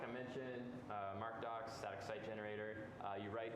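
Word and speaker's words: MkDocs: popular python one uh called mk dots or mark docs or mcdocs there's like a few different ways to pronounce it i usually call it markdoc it's basically a pretty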